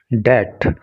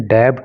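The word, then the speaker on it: debt: होता है सामना करना डेट यह जो वर्ड है इसका प्रोनंसिएशन डेबड नहीं होता क्योंकि इसके अंदर बी साइलेंट होता है इसलिए इसको डेट बोलते हैं और हिंदी में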